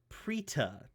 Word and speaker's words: Preeta: Cam, how about you tell us about Preeta? Am I in the ballpark? You are, yes, you're pronouncing it correctly.